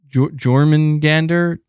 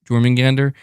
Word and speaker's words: Jormungandr: Jormungandr. That's it, right? Am I saying it right? Jormungandr.